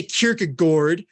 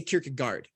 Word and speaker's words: Kierkegaard: they're anti-elitis inherently and so I don't say kierkega gourd or kierkegor I say Kierkegaard you know but people say it's Gore it's like okay well